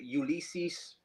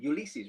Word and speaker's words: Ulysses: So guys, this is Ulysses. How do you pronounce your name? Ulysses, right? Or yeah, Ulysses.